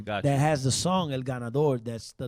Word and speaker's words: El Ganador: El Ganador, yeah.